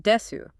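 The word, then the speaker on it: です: And finally, you have R pronounced desu.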